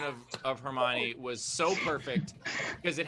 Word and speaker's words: Hermione: just happened my favorite moment was uh was her moan the the mispronunciation of of hermione was so perfect because it happened right after